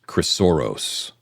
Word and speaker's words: Chrysoros: Chrysoros is CHRYSOROS.